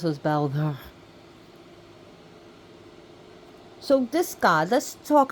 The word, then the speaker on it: Baldur: as you can see how I'm pronouncing his name is B of softy and a rolled R if you can't roll your RS that's cool but if you pronounce them bder that's that's between you